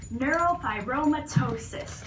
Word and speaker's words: neurofibromatosis: okay so this is nf2 which is actually pronounced neurofibromatosis type 2.